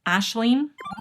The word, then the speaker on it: Aisling: Thank you to those who corrected my pronunciation. I got it wrong in the Goodreads video. It's Aisling, an Irish author, and this was the winner of the sci-fi category.